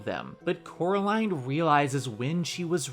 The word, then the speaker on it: Coraline: Caroline what? Coraline. It's the new neighbor, Miriam. Caroline. Caroline, Caroline, Caroline. Caroline. Coraline. She feels depressed and ignored,